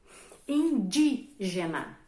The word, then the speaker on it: indígena: Indígena. Ó, indígena. Indígena. O di é a sílaba tônica, é a sílaba que eu falo com mais intensidade, é a sílaba mais forte.